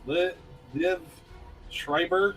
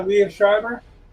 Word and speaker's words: Liev Schreiber: how about I can never pronounce his name. Liv Schreiber, the guy that played. Oh yeah, Liev Schreiber.